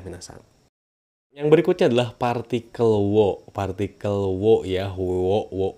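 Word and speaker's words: を: Yang berikutnya adalah partikel wo. Partikel wo ya, wo, wo, wa, wo, eng. Nah, wo. Tapi dibacanya o si minasang ya, kayak gitu.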